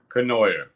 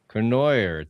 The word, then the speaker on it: Cournoyer: Kenoyer. Kenoyer.